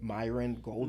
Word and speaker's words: Myron Golden: Myron Golden. Myron Golden.